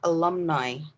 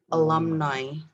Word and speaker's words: alumni: we have this word the pronunciation of this word is actually alumni alumni so the u is slightly uh alum alumni and the i is uh english i alumni and then miss fifi